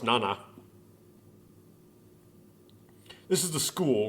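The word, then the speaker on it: 七: means seven is Kani it's pronounced Nana or Shi depending on the context just seven alone as a digit is pronounced Nana this is the school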